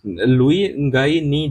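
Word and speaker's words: Luingainii: लुईंगाईनी जो है ये यहां पे एन साइलेंट होता है।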